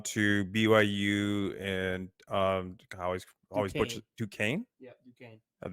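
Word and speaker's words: Duquesne: BYU and um always Duane yeah du the S is silent guess I almost said du SN all right so BYU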